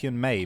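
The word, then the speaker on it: Hyun-ae: We discovered it is hyme because it's just that the a is the e the e i is pronounced a but the m is still pronounced.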